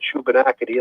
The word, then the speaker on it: Shubenacadie: I can't even begin to pronounce it. SHUBENACADIE. Yeah, the Shubenacadie Reserve. The Shubenacadie Reserve. Yeah. Okay. Short for Shuby.